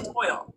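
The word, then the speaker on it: TOYL: Time of your life. Pronounced toil.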